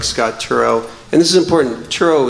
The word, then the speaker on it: Turow: be able to bring in authors like scott turow and this is important churro is the correct pronunciation that is correct yeah a lot of people say taro so now you know it's turo you can